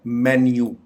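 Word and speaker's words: menu: coffee काफी काफी काफी इस लफ्ज को आमतौर पर मीनू बोला जाता है जबकि इसकी करेक्ट प्रोनंसिएशन है मेन्यू मेन्यू इसका मतलब है चीजों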